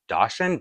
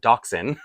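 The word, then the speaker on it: dachshund: I thought was called dasen dashen the dog and then a couple people let me know it's pronounced doxen I swear I had never heard that word in my life doxin because even when I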